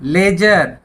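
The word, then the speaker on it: ledger: जाणी कि आगे इस लेजर कि मैं यहां भी डी साइलेंट है लेजर कि लेजर भाई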